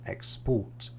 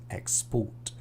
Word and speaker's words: export: So most two-syllable verbs have the stress on the last syllable. Present, export, decide, begin. Present, export, decide, begin.